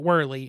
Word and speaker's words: Worley: God I got it I always said his name the German way and I think I even did in our route review I think so however he pronounces it whirly and so that's just what I've stuck with but yes he recommended that gates